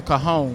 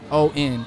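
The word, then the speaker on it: cajón: It's called the cajon. The cajon. Okay, yeah. I've never seen that Latin instrument. It's spelled Cajon, cajon.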